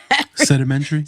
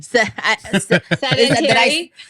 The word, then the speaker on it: sedentary: So in the combination of sedimentary. Sedentary. There you go. I said it wrong.